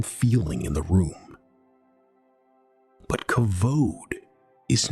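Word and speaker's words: כבוד: The word is kavod.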